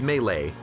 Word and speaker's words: melee: veg can't do it you say melee or may lee it's melee like l-a-y i i i hear it pronounced frequently melee or mali but it's melee i think pretty sure pretty certain um so if i play